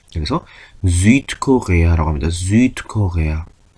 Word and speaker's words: Südkorea: 여기서는 Süd라는 단어하고 Korea라는 단어가 합쳐진 거기 때문에 앞에 있는 Süd는 그대로 발음을 해줍니다. 그래서 Südkorea라고 합니다.